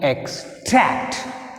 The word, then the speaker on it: extract: Extract. Extract. Extract. Extract. So second syllable is tract. So put a stress mark on second syllable T.